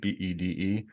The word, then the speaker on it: Bede: I call him Bede. I don't know, whatever. In French, it's bed.